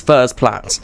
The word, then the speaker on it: Furze Platt: The next station is Furze Platt. This is a great way to Ah. Right. So, it is Furze Platt. I am right. That's like one of the only times I've been right on pronunciations.